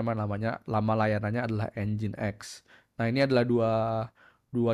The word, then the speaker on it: nginx: Bukan Nix ya bacanya, tapi engine X.